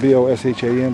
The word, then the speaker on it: Bosham: We're in the village of Bosham, spelled B-O-S-H-A-M, but it's pronounced Bosham.